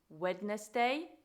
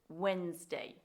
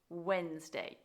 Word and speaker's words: Wednesday: series it's Wednesday now the mispronunciation here comes from people wanting to say the D wedness day yet we pronounce it Wednesday Wednesday your turn Okay the